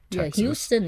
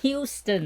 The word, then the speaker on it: Houston: funny ones uh I'm from the city Houston Houston is very pretty attack been tying wrong you